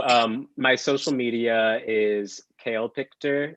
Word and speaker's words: CaelPictor: that yes so um my social media is kale picture it's pronounced kale picture c-a-e-l-p-i-c-t-o-r and i've we've got it up on